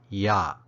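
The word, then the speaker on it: ရ: combined with another verb it's pronounced yah with the creaky tone it follows the primary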